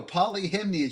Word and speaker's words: Polyhimnia: Polyhimnia. Just the way it sounds.